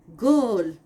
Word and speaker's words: girl: But for this rule, there are many exceptions, like girl. The spelling is GIRL, but we are not going with the soft G sound of J. We are going with the hard G sound of a G.